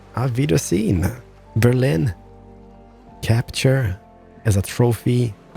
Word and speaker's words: Auf Wiedersehen: Auf Wiedersehen. Auf Wiedersehen.